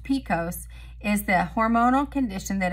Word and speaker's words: PCOS: polycystic ovarian syndrome PCOS PCOS often shortened and pronounced Picos is the hormonal condition